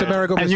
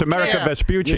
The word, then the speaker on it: Amerigo Vespucci: I knew it, and it's Amerigo Vespucci. And you said it wrong. It's America Vespucci.